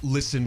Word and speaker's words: listen: I am very disgruntled whenever I read something and there's a word with a silent letter, like no with a K or uh listen with a T.